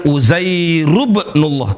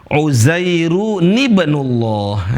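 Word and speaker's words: عزير ابن الله: Yang benar adalah cara bacanya bukan uzairubnullah tapi uzairu nibnullah.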